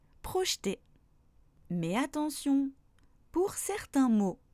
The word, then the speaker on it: projeter: Par contre, il ne se prononce pas quand il est à partir de la deuxième syllabe du mot, comme dans samedi, boulangerie, projeter.